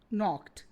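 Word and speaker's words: knocked: नो, नॉक्ड, दोनों में के साइलेंट है।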